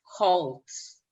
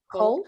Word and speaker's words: cult: Yeah, but it makes me think a lot about cults. You know, in a lot of cults, cult, am I saying it correctly? Cold? Cold, like being cold. Cult. No, Gabi, cult, cult.